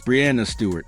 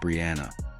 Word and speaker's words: Breanna Stewart: It's Breanna Stewart, not Brianna. It's Stephen Curry, not Stephen. That matters.